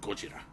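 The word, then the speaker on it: ゴジラ: sara ozawa is he he always pronounces uh godzilla by his japanese name he always calls him gojira we must protect gojira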